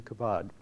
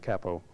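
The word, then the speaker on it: Cabaud: philip g philip g kabad um i probably am pronouncing mispronouncing his name uh i think it's more like capo is how we uh pronounce it but in any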